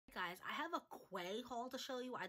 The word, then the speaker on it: Quay: guys i have a quay haul to show you i thought this would just be perfect timing since summer's around the corner um i think it's pronounced quay it literally says pronunciation is key so i'm going to